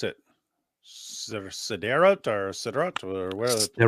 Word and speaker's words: Sderot: Yeah, like when we went to, I don't know how to pronounce it, Sderot or where? Sderot, yeah.